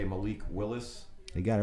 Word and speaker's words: Malik Willis: I always say his name wrong. I'm going to say Malik Willis.